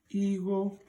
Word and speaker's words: Igho: everybody to understand that letter I is pronounced as E. So when you remember that the vowel I in Ędo language is pronounced as E, it allows you to spell and pronounce this as Igho.